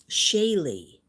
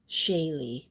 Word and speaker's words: Chaley: Shaylee. Oh, so the C is a soft C, so it's pronounced Shaylee. Thank you for that. Thank you, Shaylee.